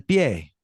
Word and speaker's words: pie: Now, it's not pie. El pie. Pie. Remember, pronunciation is exactly how it's spelled.